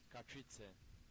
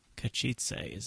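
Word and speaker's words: Katowice: Oh, hold on, it's got a little pronunciation thing. Maybe they can tell us. Oh, they even play it. Kachitze. Kachitze? Kachitze. Kachitze is how that's said.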